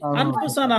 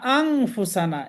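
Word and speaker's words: أنفسنا: যালামনা আনফুসানা আমরা বলি, আনফুসানা হবে না, আংফুসানা। এই যে এখানে এই শব্দটা আছে আং, আংফুসানা, আংফুসানা হবে। আমরা আনফুসানা পড়ে অভ্যস্ত, তা আন হবে না, এখানে হবে আং।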